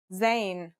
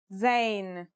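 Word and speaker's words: زاي: a DOT on top in terms of pronunciation you say just like the English Z as in zebra or al-jazeera practice saying Al Jazeera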